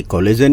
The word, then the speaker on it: collagen: नहीं, ये कोलेजन ही है इसका।